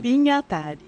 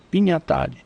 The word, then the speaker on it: Pignatari: Pinhatari. Pignatari. É Pinhatari, a correta. Mas, Todo mundo fala Pignatari, mas em italiano é Pinhatari mesmo, é Pinhatari.